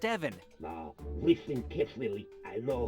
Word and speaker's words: Evan: You think they'll fall for that, Ethan? Evan! It's pronounced Evan.